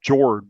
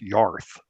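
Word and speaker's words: Jörð: And her name looks like it's pronounced Jord, but it's actually pronounced Yarth.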